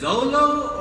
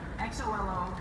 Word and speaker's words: Xolo: My name is spelled, you can see it right here, it's Xolo. It's a little funky, it's Aztec, it means the North Star. It's Nahuatl, actually. Yeah, zoom in right here. XOLO. So it's pronounced Xolo Maridueña.